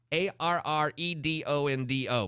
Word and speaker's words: Arredondo: Arredondo, but it's a lot of rolling.